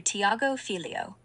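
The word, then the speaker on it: Thiago Filho: Pronounce that, please. Big hello to Tiago Filio, Do. Pronounced TAHGO FIL Do.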